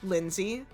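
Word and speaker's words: Lenzee: Um, and uh, you see that a name um, was clearly scribbled over in black marker and above it is written Lindsay. Um, it is spelled L E N Z E E.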